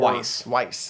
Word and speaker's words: Weis: Dragonlance was created by Margaret Weis and Tracy Hickman. And I really hope those names are pronounced correctly. In 1984. Weis was an editor for... Weiss, thank you.